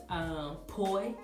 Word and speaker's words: poi: It's called poi. I want to say it's spelled P-O-I.